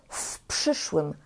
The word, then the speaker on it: w przyszłym: Pamiętajcie, żeby tutaj w czytać jak w i czytać to jak jedno słowo w przyszłym, w przyszłym, w przyszłym roku.